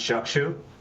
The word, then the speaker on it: Chakshu: It is pronounced Chakshu, and I always say if you have difficulty pronouncing it, just combine the words Chuck with the shoe, and there you got it.